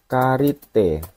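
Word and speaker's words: 借りて: Ini bacanya bukan kate ya, ini kanjinya dibaca karimas. Karena karimas itu adalah bentuk kata kerja bentuk kedua, bentuk T-nya jadi karite. Bukan kate, ini salah ya, tapi kanjinya ini karimas, artinya apa?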